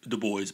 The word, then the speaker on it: DuBois: e b dubois and i know people pronounce it the boys but i like to say dubois whom he attacked and